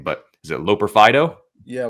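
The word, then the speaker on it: Loperfido: And I hope you can pronounce his last name, but is it Loper-Fido? Yeah, Loper-Fido.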